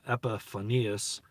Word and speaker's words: Epiphanius: the church fathers too like epiphanies some people pronounce it uh uh epiphanius uh epiphanius rather regardless irenaeus people like